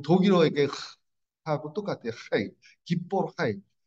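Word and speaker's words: גִּבּוֹר חַיִל: 그 우리나라에는 이 발음이 없습니다. 헤이와 다르게 헤트는 그 독일어의 하고 똑같아요. 하이. 기뽀르 하이.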